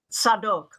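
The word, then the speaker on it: Zadok: appointed a man named zadik z-a-d-o-k in Hebrew pronounced sadok to officiate as the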